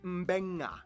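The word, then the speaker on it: Beqa: alphabet, C makes the th sound, D makes the nd sound, B makes the mb sound. Both Q and ing make the ng sound. Therefore, the town of Nadi is actually pronounced Nandi. And this word is pronounced Mbenga.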